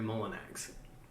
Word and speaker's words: Molyneux: But the American way to pronounce my name is Molinax. Molinax, but it's spelled kind of Molyneux.